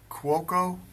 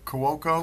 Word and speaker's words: Cuoco: the star kilee and we learned how to say her name again today I'm gonna mispronounce it is it Cuoco welcome Koko welcome we know her from